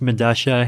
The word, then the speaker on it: Medalla: there was this uh medalla i believe it's pronounced madasha it's a south american subway station i forget where but spelled with two l's yeah yeah because that's you know that's how spanish works right like the two